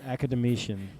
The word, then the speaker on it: academician: his faults amethyon but academy academician that's actually how you pronounce that that's from like our